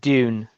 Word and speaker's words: Dune: trailer looked really good is it Dune or June my mother was name my name was June so Jun I'll say I'll yeah ju NE e so I pronounce it Dune dun with a d d Dune do you